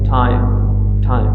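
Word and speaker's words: time: टिम, same spelling TIM और TIM ई का addition है यहाँ पे, लेकिन इसको हम प्रोनाउंस करते हैं टिम और इसको हम प्रोनाउंस करते हैं टाइम से टाइप्स हैं।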